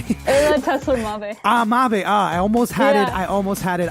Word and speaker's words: Ayla Tesler-Mabe: Is that how you pronounce your name? Ayla Tesler-Mabe.